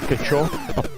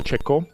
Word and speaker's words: Cecco: Franta Fuka jokingly pronounced it “kecho” and when people corrected him, he’d tease them. So Raffaele Cecco Interesting fact here, people’d develop it on atari and had cross compilers...